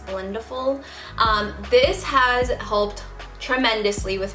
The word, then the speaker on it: Blendiful: I just learned that's how you say it, not Blendiful, it's Blendiful.